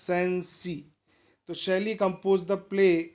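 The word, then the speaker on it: Cenci: In particular, Beatrix Sensi, pronounced Sensi.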